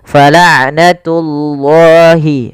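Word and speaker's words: فَلَعْنَةُ اللَّهِ: Falatullah tullah tunya jangan tebal langsung jangan falnatullah enggak tapi dia falnatullahi baru lafal Allahnya ditebalkan.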